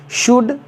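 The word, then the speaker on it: should: एल डी हो तो उस कंसन में एल साइलेंट होता है जैसे एस एच ओ यू एल डी शुड सीओ यू एल डी कुड next ड आपका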